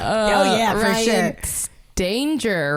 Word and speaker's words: Stanger: Just that my family says Stanger. Stanger. So you're right. Stanger, though, is you. But I found that most people, upon reading it, will give it a hard G and just Yeah.